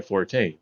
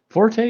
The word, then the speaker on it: forte: you gamer guy Forte Forte is pronounced Forte not Fort like if you're saying it like is like yeah that's my forte it wouldn't be makes